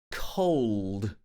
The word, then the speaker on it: cold: cold today watch this because it has the all sound closer to the end the dark l sound sound cold it's very cold today